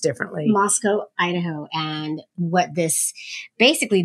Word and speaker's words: Moscow: um the city in Russia but it's it's pronounced differently Moscow Idaho and what this basically the head of